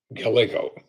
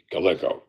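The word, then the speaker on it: Gallego: I think I mispronounced Reuben's name Galgo. That's the correct pronunciation. Reuben Galgo.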